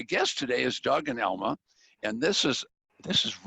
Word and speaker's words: Elma: But Doug and Elmyra, am I saying it right? Am I saying your name right? Elma. Elma. Right. Elma.